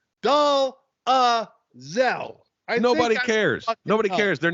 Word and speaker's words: Dolezal: It is pronounced Dolezal.